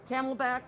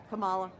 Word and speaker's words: Kamala: the four years and the Camelback forget it the Camelback who's that Kamala oh wow that both mispronounced the name and uh xenophobic yeah